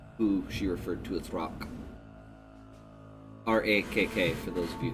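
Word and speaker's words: Rakk: up on the tops of these rocks.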